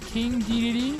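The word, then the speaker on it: King Dedede: All right, so here's King DDD. That's how you pronounce his name.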